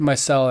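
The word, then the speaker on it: Myrcella: think my cell my cell that's I said my cell and I think she said I pronounced it right okay that's cool Delaney this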